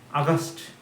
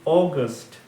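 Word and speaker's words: August: ইজ নট আগস্ট আগস্ট বলে কোন মাস নেই আগস্ট ঠিক আছে জুলাই আগস্ট এটা ভুল একদম ভুল যদি এটা বল আজকে থেকে আর বলবে না বলবে কি অগস্ট অগস্ট তাহলে জানুয়ারি February March April May June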